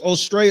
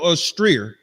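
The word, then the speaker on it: Eostre: s no it's spelled E O S T R E like looks like Easter. I don't know. Austral. It's almost like Easter, but it's Ostray or Orier.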